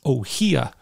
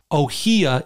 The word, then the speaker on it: Ohia: is like Ohio is ohia is like a flower and that's how you pronounce it and every single person